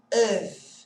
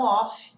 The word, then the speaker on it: of: Esse F tem som de V, V de vaca, tá? Esse O tem som de E. Então, aqui, ó, of, e não off, tá bom?